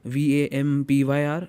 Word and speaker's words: Vampyr: game which I loved was Vampire, or how do you want to pronounce it? It's Vampyr.